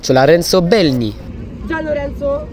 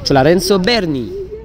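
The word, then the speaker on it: Lorenzo Bernini: Alors, petite erreur de prononciation, c'est la fontaine Lorenzo Belni. Apparemment, c'est Berni. Donc, la fontaine Lorenzo Berni.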